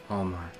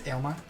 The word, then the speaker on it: Aylmar: Omar. Okay. Yes, it's Aylmar. Oh, Aylmar? Yeah. Aylmar? That's how you say it.